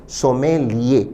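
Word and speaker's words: sommelier: इसका शुद्ध उच्चारण विद्यार्थी ध्यान दें, सोमेलिये।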